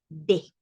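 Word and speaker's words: des: Y en el caso del tercero, que es el plural, ese decimos de, como en español. No pronunciamos la S, pero tampoco cerramos la pronunciación. Decimos de.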